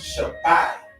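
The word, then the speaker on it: שבע: pronouncing it okay so number seven will be pronounced shabai shab that's how you say seven all right so if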